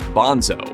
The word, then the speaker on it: Bonzo: Bonham's nickname was Bonzo, which rhymes with gonzo, an assessment of not just the way he pounded on a drum, but the way in which he partied.